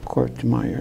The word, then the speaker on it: Kortmeyer: So the right pronunciation is Kortmeyer 15 or seconds. Kortmeyer. You can say it either way. Most people say Kortmeyer.